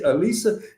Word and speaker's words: Alisa: Lisa with an A in front. Just Lisa with an A. So the way I do my interviews is Alisa knows none of the questions I'm gonna ask.